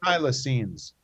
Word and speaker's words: thylacine: pronouncing this correct thylacines thylacines extinct question mark thylacine or the tasmanian tiger was thought to be extinct but thylacine like plasticine can be reanimated in